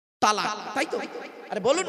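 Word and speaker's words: طلاق: স্ত্রীকে একটা শব্দ বলে ডিভোর্স দেয় শব্দটা কি তালাক তাইতো আরে বলুন না বউ যাবে না ভয়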